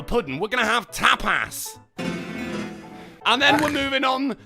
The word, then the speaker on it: tapas: No, it's tapas. No, I mean, I For- think that's just how you say it. That's correct. I guess I could emphasize the S more, tapas.